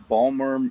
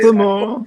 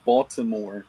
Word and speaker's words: Baltimore: So, I'm so I'm located in uh Balmer, Maryland. I say Balmer because that's uh that's how we say Baltimore. Yeah. Baltimore is a proper pronunciation.